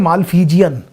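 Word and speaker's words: Malpighian: यह बात पूरे के हम बोलते हैं माल फिजियन माल फिजियन और अब अगर आप आपसे कहेंगे इसलिए लिखिए तो यह स्पेलिंग लिखी जाती है माल फिजियन या मालवीय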